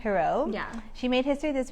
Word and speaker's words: Jirau: It's Jirau. Jirau.